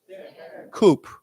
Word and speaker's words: coupe: Coupe. Coupe. Coupe. I think the French say coupe or something like that, but anyhow, Americans say coupe.